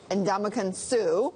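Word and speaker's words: Ndamukong Suh: and I'm going to get this guy's name pronounced correctly correctly Andaman Su very good signed him for $114 million contract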